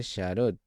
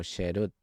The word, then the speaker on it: herut: En las tablas, Shemo 32:16, no lo pronuncie Sharut, sino sherut, literalmente libertad, porque es la verdadera libertad.